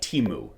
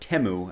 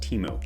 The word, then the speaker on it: Temu: for a website called Teemu not temu as I was calling it in my head apparently it's pronounced Teemo this junior varsity version